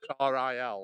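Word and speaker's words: Rhyl: be yeah it's real it's pronounced like ril like real real yeah you're best just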